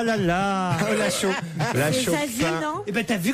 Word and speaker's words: Zazie: C'est un peu comme Slip Suisse ou Saucisson sec. C'est Zazie, bonne réponse de Sophie Favier.